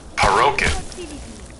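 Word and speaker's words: פרוכת: So in Hebrew, it's known as the parokhet, which is spelled Parochet, and it's pronounced Parochet.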